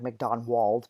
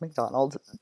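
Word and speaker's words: Macdonwald: I know it looks like MacDonald, but it's pronounced MacDonald.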